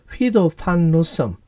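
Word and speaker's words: Guido van Rossum: 파이썬은 네덜란드 출신의 프로그래머인 휘도 판 로섬, 이 이름은 이제 네덜란드 발음 그대로 제가 한 겁니다.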